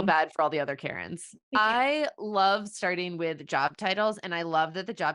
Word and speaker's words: Keryn: to meet you okay just to clarify do we say it Karen it's Karen just like but not Karen but not like that yeah not that Karen thank God your name